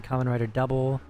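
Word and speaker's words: Kamen Rider W: There's one called Common Rider W but you pronounce it common writer double.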